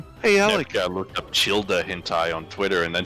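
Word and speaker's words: Childe: Nepka looked up Childa hentai on Twitter, and then she went to jail. What's Childa? Genshin Impact character. Surely. Is that actually how his name is pronounced? I'm pretty sure it's actually Child.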